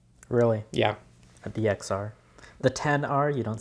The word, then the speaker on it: XR: it the XR yeah 10r obviously 10 R okay you pronounce it 10 yes so the the